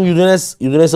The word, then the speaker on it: Udine: Team Udinese ışık saçıyor. Yadanes. Udin değil mi o da aslında? Udine. Udine. Udine. Udine şehrin adı. Türkçesi. Udin. Evet. Udin mi Udine mi? Udine.